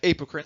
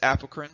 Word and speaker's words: apocrine: We have eccrine sweat glands, and then we have apocrine. Some people pronounce it apocrine, not incorrect. You can say it either way.